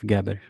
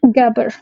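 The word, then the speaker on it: Gaber: uh gabber YouTube page am I pronouncing his name right uh Sharif gabber yeah gabber okay so and and I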